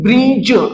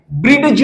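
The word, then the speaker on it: bridge: example आहे ब्रिज आता ब्रिज हा शब्द वाचत असताना तर सुरुवातीला आपल्याला ब्री आणि ज असा रीड करायचा आहे म्हणजेचडीला आपणाला सायलेंट करायचा आहे लक्षात घ्या तुम्ही या ठिकाणी ब्रिज अशा प्रकारे याच वाचन करायच आहे ब्रीडज असं वाचन करायचं नाहीये त्याच्यानंतर पुढच जे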